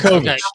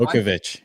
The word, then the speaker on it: Bakowicz: So, let's bring on Bakowicz. There, I remember Bakowicz. Yes, welcome to the show. Professor Bakowicz. Well, first and foremost, I'll thank you guys. It's Bakowicz. It's not Bakowicz.